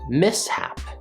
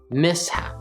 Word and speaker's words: mishap: and you're expecting but in this case the first syllable is miss so we get the